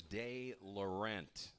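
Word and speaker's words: DeLaurent: his last name correctly I'm told it is day Laurent so it's Paxton de Laurent Jeff hza confirms uh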